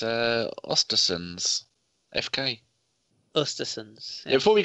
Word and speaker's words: Östersunds: Danny, I want you to pronounce this Europa League team for me, since you are so good at pronunciation. Yeah, no problem. It's Östersunds, FK.